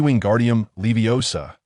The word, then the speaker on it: Wingardium Leviosa: It should be Wingardium Leviosa, with that G articulated long and clear.